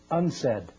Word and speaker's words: UNCED: Nations committee for environment and development it is pronounced unsaid and perhaps in indicating the secret agenda of